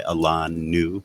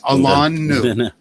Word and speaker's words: Alain Nu: called State of Mind by Alan New. That's how you pronounce my name. Like standing on Alain, right? Alan New.